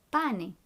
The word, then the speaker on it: pane: Make sure you pronounce all the vowels. Sale. Bene. Numero 4. Pane.